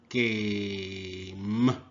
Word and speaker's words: game: G. A. Game. Game. Silent E.